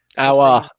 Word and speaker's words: Aouar: we're going to sign Aouar. There you go. That's how you pronounce it. Aouar. Okay, like that. Yeah.